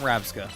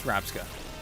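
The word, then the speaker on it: Rabsca: I thought I thought uh not Ravska the other one smaller one. No, it is Rabska. Rabska which is scarab with the two sounds flipped.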